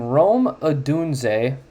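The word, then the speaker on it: Odunze: guy's name last time Rome adun apparently is how you say it like the city in Italy um holy [ __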